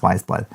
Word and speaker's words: Weyes Blood: Chalolu, and it is Movies by Wise Blood. Wise Blood. Oh, it says what? Pronounced Wise Blood.